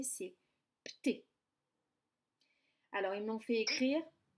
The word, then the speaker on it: Pté: donné que ça, et c'est très difficile à prononcer, c'est Pté.